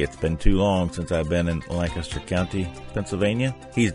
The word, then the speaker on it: Lancaster: Please note that I said Lancaster one syllable, not Lancaster, like all other out-of-state pilgrims.